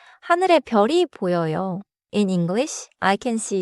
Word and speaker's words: 별이: keep별 and e connected but still clear. 별이 보여요.